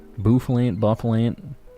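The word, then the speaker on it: Bouffalant: I cannot help but pronounce it as Buffalant due to my Cali accent. Good old Buffalant. Buffalant, like buffalo. It's not buffalo.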